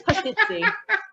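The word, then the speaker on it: pastizzi: Are you laughing at my pronunciation, or are you? No, you did it quite well. It's pasticci.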